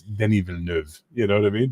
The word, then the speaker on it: Denis Villeneuve: I just saw the new Dennis Villanova film, and I'm like, what? It's Denis Villeneuve.